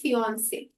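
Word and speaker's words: fiancé: हम शब्द इस्तेमाल करेंगे फियोन से एफ आई ए एन CE French word है और जो जिस महिला की सगाई हो गई है उसके लिए भी शब्द प्रोनाउंस ऐसे ही होगा स्पेलिंग में थोड़ा फर्क है एफ आई ए एन सीई ई तो आप देखेंगे स्पेलिंग में ई का अंतर है प्रोनाउंस दोनों उसी तरीके से करेंगे सिन से ठीक है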